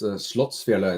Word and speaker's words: Slottsfjellet: It is Slottsfjellet is pronounced in Norwegian.